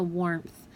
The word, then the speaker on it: warmth: So warmth. The W makes the A-R say O-R, so warmth, you hear or.